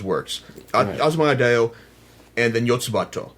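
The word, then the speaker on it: よつばと!: It's one of the Yotsuba, or Yotsubato if you're into the Japanese pronunciation of the series, because the American version has Yotsuba ampersand, because basically it's Yotsuba and such and such.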